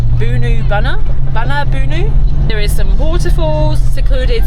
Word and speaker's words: Boonoo Boonoo: We are on our way to, I know it's not called this, but it's spelt Boonoo Boonoo, but I'm pretty sure I looked yesterday and it was pronounced Boonoo Boonoo.